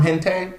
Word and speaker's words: hentai: I don't want that to be part of, because that's what 3 steps away from hentai.